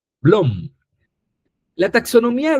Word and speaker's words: Bloom: Bloom se escribe con doble o I m. Bloom. Blom. La taxonomía de Blom es este cuadrito que ustedes están viendo acá.